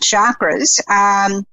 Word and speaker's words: chakra: I think I wanted to talk today about chakras, which, I may be mispronouncing. Some people get very upset and they go, it's chakra, Jacquelene, chakra. It's like charcoal, which, some people can